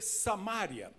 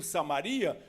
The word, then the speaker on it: Samaria: igual a palavra Samaria tem gente que lê samária Por que as duas formas estão corretas Porque como não tem acentuação no grego as duas As duas pronúncias não estão erradas mas eu prefiro Samaria Porque na minha Bíblia não tem acento agudo no ar se tivesse acento agudo no ar eu leria samária perfeito então Então a